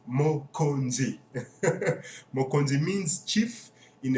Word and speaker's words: Mokonzi: keep reminding you guys if you can't pronounce it yet probably could I think I can only feel sorry for you it's mo kanji mo conde means chief